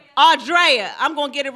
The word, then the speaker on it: Audria: Did I say that right, Audria? Did you say it right? Audrea.